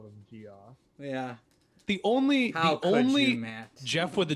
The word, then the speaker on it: Jeff: him jeff is an absolute stud so it's jeff not joff i remember it as jeff james well i would trust you i would never trust my pronunciations it's jeff that's just another way to spell jeff jeff